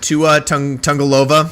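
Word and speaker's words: Tagovailoa: about it so um miami dolphins offense uh tua tungalova i said it there it is exactly how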